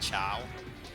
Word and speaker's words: Chao: Like they have these little like creatures in the game called Chao, and it's kind of like Chaos. Like Chao is spelled the same way as Chaos.